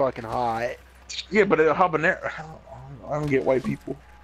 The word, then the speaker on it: habanero: so yeah Oh jalapeno habanero but it's spelled with a J yeah it's for the white people cuz in Spanish we don't pronounce the H ok so it's a bun it'll habanero yeah I'll burn it